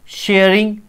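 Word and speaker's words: Tshering: थे जिनका नाम था टी शेयरिंग टी साइलेंट होता सॉरी शेयरिंग तोप ग इन्होंने स्ट्रांग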